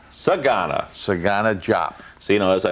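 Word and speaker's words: DeSagana Diop: you say it everywhere forget the d e exactly why why why it's there i don't even know but it's sagana sagana sagana jop so you know as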